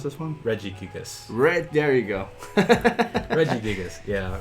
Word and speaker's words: Regigigas: It grabbed on visually, and that's, how do you pronounce this one? Regigigas.